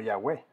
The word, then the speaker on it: Yahweh: Recuerdan que les dije, son esas 4 letras del alfabeto hebreo, una Y o Y, la H, la W y la H nuevamente.